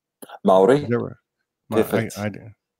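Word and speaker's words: Māori: you're you are native my ori tribe right maori never the things i do I did say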